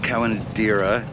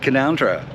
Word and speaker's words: Canowindra: It's not Canowindra, it's Canowindra. Somehow there's a whole silent syllable in there somewhere. I don't get it, but it's Canowindra.